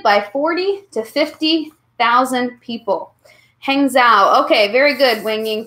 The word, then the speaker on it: Hangzhou: Hangzhou. Okay, very good, Wing Ying. Thank you so much for telling me how to pronounce that. There's a silent G.